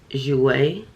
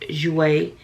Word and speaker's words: Jouer: i know it's it looks different but it's pronounced jouer come on now it's pronounced jouer it's essential lip enhancer and since i just